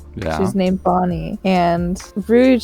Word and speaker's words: Rouge: Is it Rouge or Rogue? How do you pronounce her name? Ace's mom's name. Oh, Portugas de Rouge. Yeah, Rouge. Yeah.